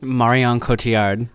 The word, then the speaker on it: Marion Cotillard: How do you pronounce her name? Marion Cotillard.